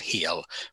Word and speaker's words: Hel: Um and even this this realm of the dead um it's spelled h e l one l pronounced heal, but is that something to do with the Christian hell?